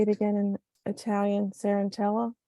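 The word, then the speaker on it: Cenerentola: Sarantella? Sarantella.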